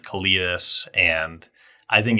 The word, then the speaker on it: Kalitas: I first of all, I say Kalitas, just because people are going to be wondering.